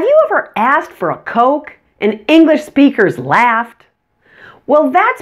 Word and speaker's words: coke: and that's the oval the word coke uses a long Oh sound and uses a short